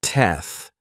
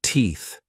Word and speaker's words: teeth: audio from Russell Howard Russell pronounced the unvoiced th sound as F and said teth instead of teeth did you notice the